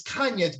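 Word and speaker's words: Canha: uh he was like it's brazilian it's the kind of the double l's in spanish the anya whatever it is and is yeah kanye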